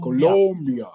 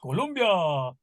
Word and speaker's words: Colombia: my daughter's quinceanera and I keep saying it wrong it's Colo Colombia Colombia um so we travel to